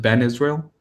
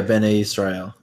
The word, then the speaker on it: Bene Israel: Or you ever heard of I don't know how you pronounce it, Ben Israel? Yeah, Bene Israel.